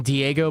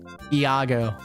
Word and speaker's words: Iago: I always called him Diego, but I guess it's Iago.